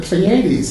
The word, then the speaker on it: Pleiades: here are the Pleiades, how you say it in English, Pleiadot? The Pleiades. Pleiades.